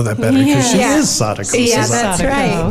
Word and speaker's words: Sadako: Actually, Sarah Walls, one of our cast members, actually in the script there is a phonetic pronunciation. So according to the script of the play anyway, it's Sadako Sasaki.